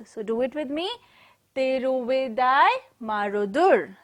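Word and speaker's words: Tiruvidaimarudur: Tiruvidai Marudur.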